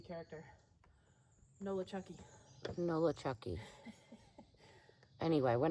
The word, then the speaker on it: Nolichucky: Nolichucky River, which is down by Uncle Johnny's hostel where we'll be stopping. We have a box there. Just think of New Orleans and your favorite horror movie character. Nolichucky.